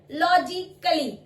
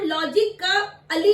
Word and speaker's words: logically: LOGICALLY, लॉजिकली। अब इस लॉजिकली में हम लॉजिक का अली नहीं बोलते, लॉजिक का अली नहीं बोलेंगे, लॉजिकली, लॉजिकली। ए साइलेंट हो गया।